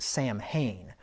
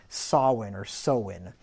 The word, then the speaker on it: Samhain: that you read the if you try to read it phonetically you'd think it would be pronounced Samhain but if you pronounce that Samhain like I used to